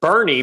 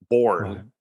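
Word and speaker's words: Boerne: on this and then there's there's bernie but it's b-o-e-r-n-e born but it's bernie so you know i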